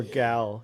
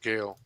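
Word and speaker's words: Gaal: and no i or gal you could pronounce it gal gal girl there's no it's gayle two a's no i yeah it's g-a-a-l what they pronounce it gail unless the subtitles are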